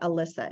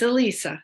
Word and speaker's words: Alisa: Alisa, and you pronounce it Alisa and not Alyssa. Is that right? It's Alisa. Yeah, Alisa.